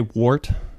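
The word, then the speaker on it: wort: eat to make beer did you say wart wart wart wart wart how do you spell that w-o-r-t work okay that's pretty cool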